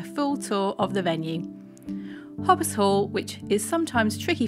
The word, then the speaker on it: Hautbois: foreign ey the wedding planner at hobbis Hall I'm going to give you a full tour of the venue hobbis Hall which is sometimes tricky for people to pronounce is located in Norfolk on a private